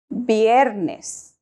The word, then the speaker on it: viernes: Thursday is pronounced jueves biernes biernes in Spanish the letter V and the letter b have the same sounds or like in English